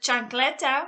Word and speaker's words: chancleta: So for example, the word chancleta, which means sandal, you will pronounce the H because the C is right next to it.